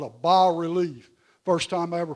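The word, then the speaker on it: bas-relief: Arty people in Charleston I said a bass relief they said no it's not a bass relief it's a bar relief it's French so a bar relief is a piece of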